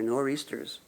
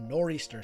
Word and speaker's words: nor'easter: the way to 1594, taken from the maritime pronunciations of the points of the compass.